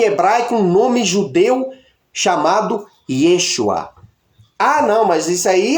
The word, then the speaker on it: Yeshua: Yud, Shin, Vav, Ai se pronuncia Yeshua.